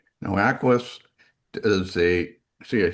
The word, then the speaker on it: AcquiOS: Now, Aquis does a See, I said it right.